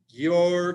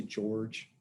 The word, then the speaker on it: Georg: this point okay so you're cantor some people say george i think technically the the pronunciation is your but i'll just call